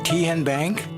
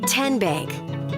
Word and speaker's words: Tenbank: How do you say the name Ken Bank? Nope. Kin Bank. Uh-uh. So, what is it? Tenbank. 10 as in Tennessee.